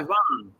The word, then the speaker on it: Siobhan: It's Siobian. You know how you pronounce that? How would you pronounce the lettering I just okay, so Siobian. Sioban, right? No, it's Yeah. Siobhan. It's Uh-huh. Siobhan. Did you know that? Siobhan. No. I No, guess but it's this Irish or something, but like it's just Siobhan.